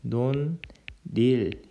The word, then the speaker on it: 논일: 이 논일은 논릴 이렇게 발음이 됩니다.